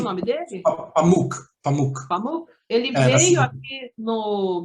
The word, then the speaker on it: Pamuk: E eu me lembro que na época que eu estava lendo, Pamuk, que se pronuncia Sim. o nome dele? Pamuk.